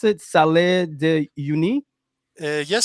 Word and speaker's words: Salar de Uyuni: So how do how do you pronounce it? Salar de Uyuni? Uh yes, Salar de Uyuni.